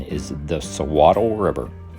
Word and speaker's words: Suiattle: so throughout the video the correct pronunciation is the sawatl river hi folks melody and i are